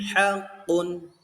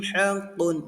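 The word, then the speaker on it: حقٌّ: jadi tidak boleh disamarkan contohnya bagaimana cara baca yang salah fi amwalihim haqquun nah itu cara baca yang salah jadi yang benar bagaimana Pak Guru Yang benar tadi adalah bacaan yang pertama.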